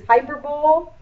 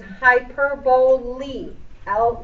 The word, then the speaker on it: hyperbole: going to see is hyperbole this word ends just like simile with a long e a lot of people will pronounce this as hyperbowl nope it's hyperboy L the l e makes